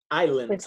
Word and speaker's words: islands: three or five Iceland Islands Islands Islands this word has s in it but the S is silent you're not supposed to